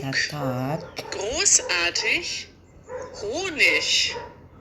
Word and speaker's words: Honig: Zug großartig großartig großartig Honig. Wenn ein Wort auf I G, also ich endet, dann spricht man das normalerweise wie ich aus.